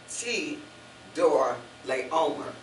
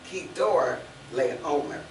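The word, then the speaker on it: Chedorlaomer: It's spelled C-H, but it's one of those words that sounds like a K. So it's Kedor Leomer.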